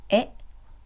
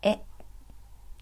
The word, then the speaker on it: へ: The pattern is place followed by the particle e, which is a hiragana he but pronounced as e.